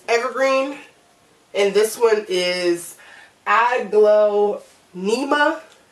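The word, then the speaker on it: Aglaonema: glow NEMA igloo NEMA that's how how I pronounce it but I don't think that that's right I think it's pronounced differently cuz if you look at the term you look at the word it is spelled differently then how I'm pronouncing it but I'm pronouncing it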